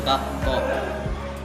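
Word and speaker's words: 学校: Misalkan gakko. Dibacanya itu di situ ada huruf k menjadi 2, jadi dibacanya gakko.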